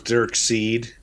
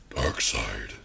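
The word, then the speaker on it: Darkseid: was spelled right I always thought it was dark seed dark seed but uh dark side is uh kind of how it goes like when they first started using in the cartoon but uh it's spelled weird so you could think it was dark seed and dark seed kind of works too because he's the seed of Darkness either way yeah okay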